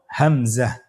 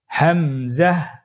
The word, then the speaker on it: হামজা: পরবর্তী হরফটির নাম হলো হামজা। পরবর্তী হরফটির নাম হামজা। হামজা হরফটি উচ্চারণ ক্ষেত্রে বারিক করে উচ্চারণ করতে হবে এবং এখানে টেনে পড়া যাবে না। দ্রুত পড়তে হবে। আপনারা আমার সাথে বলুন হামজা হামজাহ হামজা হরফটি উচ্চারণ স্থান হা এর মতই।